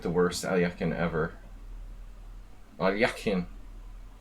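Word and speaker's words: Alekhine: Alyakin. Alyakin. Neftov. What's the point? Point is that we learned to pronounce Alyakin correctly.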